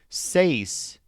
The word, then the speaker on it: seis: Seis is an interesting word because it stresses the bent vowel sound A.